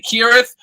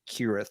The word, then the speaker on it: Cirith: I Ste your thunder you could say kirth I would advise you not to take that attitude if you should ever see a Boston Celtics game um might be 15,000 people who would who would who would who would Pummel you but yes that's probably that is probably correct keltic speaking could be yeah the reason and